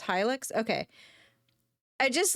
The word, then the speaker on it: Hilux: Hilix. It's pronounced Hilux.